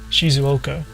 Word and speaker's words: Shizuoka: Just learning pronunciations and the correct way. Like, some people would say Shizuoka is how you would say Shizuoka, but Japanese people don't say Shizuoka; they say Shizuoka.